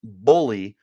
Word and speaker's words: Bohle: love the podcast and telling me how to properly pronounce it. So that's Bohle.